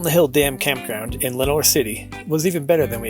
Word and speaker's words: Lenoir City: pick up along the way is how to pronounce places usually after saying it wrong for a couple days uh so it's not lenois city as I thought it's l n o i